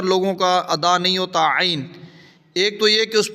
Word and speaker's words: عین: تو یہ نکلے گا عین۔ یہ اس طرح نہیں پڑھنا بلکہ صحیح طرح عین۔ بعض لوگ عین نہیں پڑھنا، گلے پہ زور دیں عین عین۔ یہ پریکٹس کریں گے